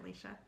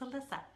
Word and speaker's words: Alyssa: I remember 16 years ago when I was starting feeling like, oh, thank you for loving my ceiling back, Alicia. No, it's not Alicia, it's Alyssa.